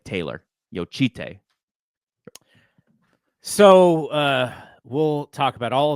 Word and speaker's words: Jocytė: So Zena said it's pronounced Yuste Veronica Yo Chite. So yeah, I said it right. Like yo instead of like any type of J in the last name, it's like yo. And Mm-hmm. then chi, like a cheetah, chi, and then tay, like Taylor.